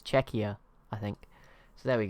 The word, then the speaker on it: Czechia: Wait, it's Czechia, not Czechia, as I was saying. So apologies there. So it's Czechia, I think.